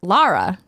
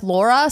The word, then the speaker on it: Lara: And they said Lara. Yeah. So, but Lara. If you look at the video game, though, characters in the game say her name differently. What do they say? Like Laura, some of them say it as Lara Croft.